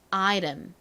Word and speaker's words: item: 이티를 리처럼 발음하는 경우가 굉장히 많아요 그래서 어떻게 발음하면 item item 이렇게 아이처럼 발음을 합니다 아 요렇게 요거는